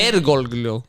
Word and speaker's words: Bergoglio: it's Bergoglio. Bergoglio. It already sounds like you gargling whenever you say his name.